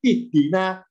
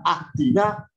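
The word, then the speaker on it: اهدنا: Ya, karena dalnya kasro, alifnya kasro, makanya bacanya ihdina, tidak ahdina, tidak uhdina.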